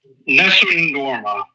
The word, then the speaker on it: Nessun Dorma: could you kind of help me out zuccharo Nessun Dorma yep and then underneath from turandot by Puccini